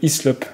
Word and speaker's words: Hyslop: On est avec Hislop. Je le prononce bien, hein?